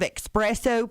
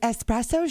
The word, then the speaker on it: espresso: through starbucks or duncan can i have an extra shot of expresso please they're like espresso shirt yeah expresso x expresso with that x in there please yeah i get uh